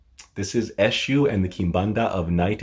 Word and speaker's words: Eshu: world and this is eshu i know it looks like eksu but it's pronounced eshu and the kimbanda of